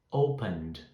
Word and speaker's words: opened: Open, opened, opened, d. Então tem o D no final, tá? Então a pronúncia é de D.